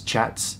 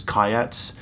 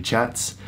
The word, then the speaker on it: kyat: know, it's spelled K-Y-A-T-S, chats. It's pronounced chat. I thought it was kayats, but it's actually chats.